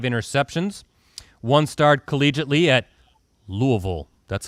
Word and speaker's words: Louisville: team leading five interceptions one starred collegiately at louisville that's how you say it louisville louisville the